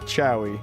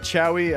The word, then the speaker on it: Chouy: It was Lord Chowie, if you want to look up my mage.